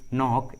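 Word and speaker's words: knock: आ रहा है, के साइलेंट है, के का उच्चारण नहीं किया गया है। Knowledge, नॉक and knee.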